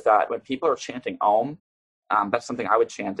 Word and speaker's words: Om: Hindus traditionally give that the correct pronunciation of ohm is stretching it out where you make a a you M sound I'm not going to